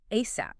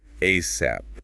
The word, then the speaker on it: ASAP: You can say it as an acronym spelling out the letters. A a P. ASAP. Or very commonly people pronounce it as a word ASAP.